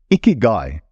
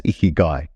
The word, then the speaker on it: ikigai: And thank you, Keanu, again for helping me on the pronunciation of that Japanese word. Ikigai.